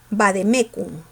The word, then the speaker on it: vademécum: deben ser tildadas oportunamente compró un vademécum así se pronuncia chicos el vademécum es